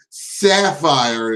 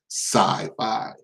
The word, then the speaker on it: Sci-Fi: How hard is it to say Sci-Fi? This nigga said Sapphire. Sci-fi got 2 syllables. This nigga saying 3.